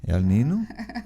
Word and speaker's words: El Niño: El Niño? El Niño? É que você falou El Niño. El Niño. Quando você fala na pronúncia correta, dá a impressão que é o Elinho.